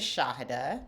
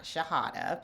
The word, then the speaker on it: Shahada: My name is Shahada, not Shahada. People tend to call me Shahada when they can't pronounce the first syllable, but it's Shahada.